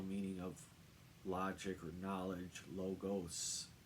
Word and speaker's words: logos: of logic or knowledge logos the S is pronounced and logos with a z refers to images that represent a group